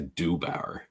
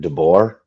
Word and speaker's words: DeBoer: No. Don't say Dubauer. I didn't DeBoer.